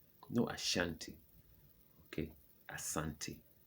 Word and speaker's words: Asante: ashanti in africa is asante no ashanti okay asante it's not ashanti it's a santi a santi their their kin is